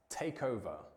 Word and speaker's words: take over: And in the pronunciation, remember to connect the K and the O of these two words, take over.